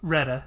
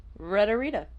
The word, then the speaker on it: Retta: Retta. Retta. That's just another R. Rita.